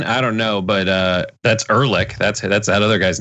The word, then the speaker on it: Ehrlich: By the way, I think did I mispronounce that guy's name, Rankin? Rankin? I don't know, but that's Ehrlich. That's that other guy's name. I know you've never seen that name before, but his name is Ehrlich.